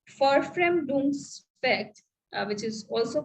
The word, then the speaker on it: Verfremdungseffekt: The other term, that is alienation effect or estrangement effect, okay, which is called Verfremdungseffekt. V is pronounced as Ver in in German. So it is Verfremdungseffekt, which is also called estrangement effect or alienation effect, which Brecht talks about.